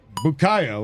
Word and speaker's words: Bukayo: Bukayo Bukayo, of course.